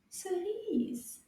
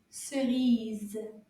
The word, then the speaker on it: cerise: Chemise, cerise. They both have the ease sound at the end. Can you repeat again? Chemise, cerise.